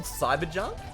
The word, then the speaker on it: Psybajunk: remember what I think it was called cyber junk but spelled PS y ba cuz I really like